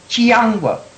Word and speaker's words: Chiyangwa: Chiyangwa.